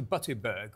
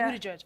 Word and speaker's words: Buttigieg: So that Peter Butterberg was the... He's currently running, or is one of the front runners, is the... Democrat presidential candidate. Right. Him and his partner... Oh, Peter Buttigieg.